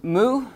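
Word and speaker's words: μῦ: So we have mu is the next one. I'm also trying to help you pronounce it.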